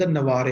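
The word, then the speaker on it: Navarre: In loves labels lost, the king of द नवारे, the king of द नवारे और द नवार sometimes pronounce किया जाता है दोनों तरह से, क्योंकि ये एक स्पेन के किंग है।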